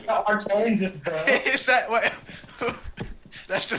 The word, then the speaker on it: Arkansas: it's Arkansas, bro.